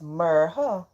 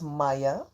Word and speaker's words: Marha: My name is Marha, not Maya, she told Hayden and politely and explained how to pronounce it properly.